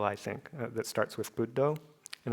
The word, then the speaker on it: Buddho: So whenever you have a double consonant like 2 Ds, that actually turns the first syllable into a long one. So that's the reason why bud is a long syllable. The reason why do is a long syllable is because of the O, which is always long.